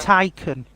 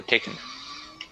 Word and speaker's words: Taycan: Taycan. No, Taken. That's how you say it.